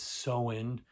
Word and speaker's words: Samhain: a band i guess technically pronounces sew-in but all of us growing up in the 80s and 90s know them as samhain the debut album initium